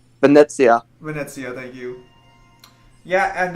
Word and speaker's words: Venezia: moan and JoJo's about how people pronounced Venice Venice when it's I believe um Venezia Venezia thank you yeah